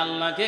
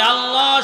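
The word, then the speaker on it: الله: নাই লফজ আল্লাহ এই আল্লাহ শব্দের মধ্যে এক আলিফ টান আছে লফজ আল্লাহ বলা হয়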